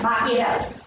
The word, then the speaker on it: Machiavelli: How to pronounce it? Machiavelli? Machiavelli. That's right, Machiavelli.